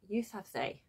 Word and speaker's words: Yousafzai: by Manala Yousafzai was Yousafzai. I've always called it Manala Yousafzai, and I don't know why, because it's very clearly got a zay at the end.